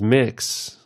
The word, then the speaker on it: Mx: MX, generally pronounced as mix, has grown in popularity over the past few years as more people outwardly and openly identify as transgender.